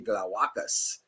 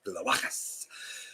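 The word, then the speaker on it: Glawackus: So that would be Glowacus, because the accent is on the second to last syllable in Latin languages. So it's Glowacus.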